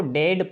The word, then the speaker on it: dead: तो कहीं इसको EA को ए भी पढ़ते हैं।